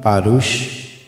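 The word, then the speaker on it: פרוש: é de origem hebraica, um substantivo masculino, parush, e quando está fariseus, está no plural, aí se pronuncia parushim.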